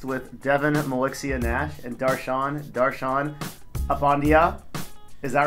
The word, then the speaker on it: Darshan: mispronounced yeah people miss people actually mispronounce Daron if they've never heard it before yeah what would they say they say like desan Daran uh Daran yeah I've heard people actually call you Daran stuff like that even